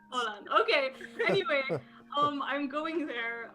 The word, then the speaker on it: Åland: A Belgian guy whose parent is from Norway, like, how do you pronounce that stupid letter? And he was like, it's an O, so I'm assuming it's Åland. Åland.